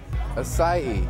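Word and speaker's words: açaí: It's not a kai berry, it's a sai berry.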